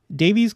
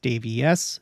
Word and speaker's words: Daviess: were expelled they relocated Northwest to davies's County davies's County uh is not spelled like that it is spelled with two s's